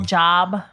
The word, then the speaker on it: Job: no this is the guy who everything spell job yes okay but it's pronounced job right that's the guy where everything